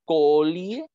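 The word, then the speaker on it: culí: El coli, ¿ya? O culi, como se le pronuncia, terminaba siendo un trabajador que no era mano de obra calificada.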